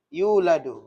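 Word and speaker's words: يُولَدْ: Ketika dimajhulkan yuladu, berarti yuladu. Ya. Dimasuki lam berarti bacanya yulad.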